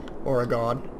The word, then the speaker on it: Oregon: Because I believe that's the correct way you're supposed to pronounce Oregon. Oregon.